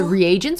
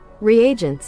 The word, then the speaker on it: reagents: Is it reagents or regions? Hold on. How do you pronounce it? Reagents.